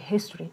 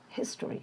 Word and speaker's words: history: Another word is history, and the primary stress is his and ta. So here again, the weaker sound schwa sound, history, not history.